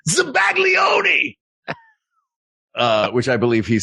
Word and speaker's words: zabaglione: Zabayon. Isn't that something that David Lee Roth said when he was Zabayon! Zabayon! Actually, he said it phonetically, which phonetically it looks like Zabaglione.